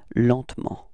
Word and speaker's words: lentement: And then, well, usually in French, we don't really pronounce this E between T and M, so we get this pronunciation lentement, repeat, lentement, okay?